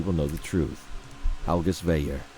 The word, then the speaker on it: Veyer: Algus Veyer. Veyer, okay, I had a feeling it was like pronounced like the French way.